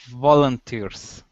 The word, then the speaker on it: volunteers: Volunteers. Okay, stress at the very end.